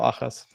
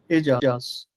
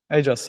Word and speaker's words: Ajas: Am I pronouncing your name Ayas or Achas? Ajas. Ajas.